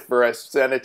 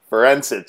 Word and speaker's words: Forencich: block that's all right so i said for a senate instead of um forensics so it's that's sorry